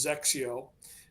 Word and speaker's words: XXIO: as soon as they conquered that we threw Zio at them um but kind of the Heritage behind our name is it's xxio it's pronounced Zio and xxi is the Roman numeral 21 and